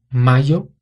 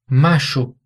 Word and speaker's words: mayo: Na Espanha seria mayo e desayuno. Na Argentina, Uruguai e em algumas outras regiões seria macho, como se fosse um som de J